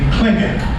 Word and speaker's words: Tlingit: These are the Tlingit, spelled with a T, T-L-I-N-G-I-T.